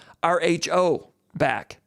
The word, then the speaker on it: Rhoback: RHO back.